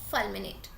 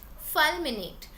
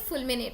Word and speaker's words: fulminate: word the word is fulminate fulminate but don't call it full minute okay that's just not how it is pronounced it's mnemonic anime we